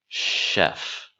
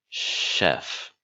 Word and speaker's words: chef: All right, notice that even though it starts with CH, it does not make the ch sound. It makes a sh sound. Chef. Chef.